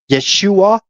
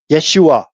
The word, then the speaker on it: Yeshua: Yeshua. Yeshua. Two syllables.